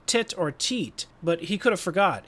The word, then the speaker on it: Titor: That's the common pronunciation but the die hard fans call it tie tor or even tea tor.